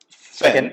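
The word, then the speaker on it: 粉: so when you pronounce it, when you say it like fen, you say fen going up. You see that fen, not like a fen or fen or fen.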